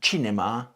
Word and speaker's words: cinema: The stress on Italian words is important, and normally it's on the syllable before last, except when it isn't. So bambino is predictable, but telefono and cinema aren't. And unlike Spanish, there aren't helpful little accent marks to tell you where the stress goes. You just have to know.